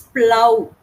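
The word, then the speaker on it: plough: cough cough yes cough cough and it is plow plow okay okay you plow the fields like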